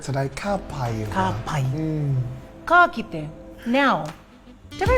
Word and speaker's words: ka kite: Ka kite. Now, did I say it correctly? E ka kite.